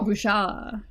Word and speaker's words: Bouchard: I pronounced it with a D, so. Oh. Bouchard. Would be the closer to the French pronunciation.